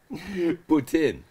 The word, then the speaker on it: poutine: Yeah, poutine. That's it. You have to be careful how you pronounce that, because it can mean something totally different, trust me.